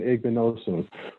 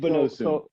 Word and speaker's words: Igbinosun: How do you pronounce it? Right, Davison Igbinosun. Right. Igbinosun.